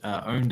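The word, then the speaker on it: Pwned: It's called Have I Been Owned? Owned is spelled with a P-W-N-E-D rather than an O, but it is a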